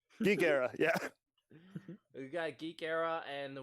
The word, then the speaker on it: GeekEire: Hey, we've only got it pronounced correctly. GeekEire, yeah.